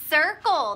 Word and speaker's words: circle: this it is a circle that's right and we hear that Soft C Sound Circle C is for